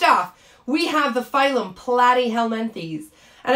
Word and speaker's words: Platyhelminthes: we have the phylum platyhelmanthes and i do say it like platty because it kinda sounds like flatty right these are your flatworms